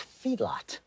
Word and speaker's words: Feedlot: Well, yeah, it's Philip with an F, right? No, it's Feedlot.